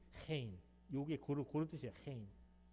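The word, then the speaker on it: חן: 여기 독일 발음입니다. ch 발음이 hein.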